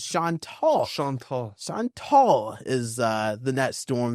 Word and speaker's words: Chantal: And now I believe the pronunciation from what I was looking at yesterday is Chantal.